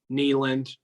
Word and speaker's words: Neyland: I don't know why I just say Nayland. Like, I just like it. That's why I didn't correct you. I was just like, yeah, whatever. If he wants to say it like that. I'll start. Hey, just so we don't piss anybody off, I'll start saying Neyland, but Neyland would be rocking.